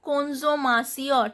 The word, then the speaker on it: consommation: Here une consommation, T-I-O-N pronounced as sion, and these T-I-O-N, S-I-O-N words in French are always feminine words. Consommation, O-N is nasal sound.